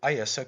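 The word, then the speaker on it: Íosa: Christ in his native tongue, pronounces it Iesa Christ, unconscious of the fact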